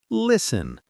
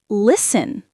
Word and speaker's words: listen: When you say listen, remember that the T is silent. So we say listen not listen. Oh so it's listen.